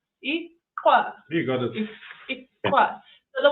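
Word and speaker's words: iklwa: So it's it's called aqua. You got it. So, the way it's spelled is I K L W A.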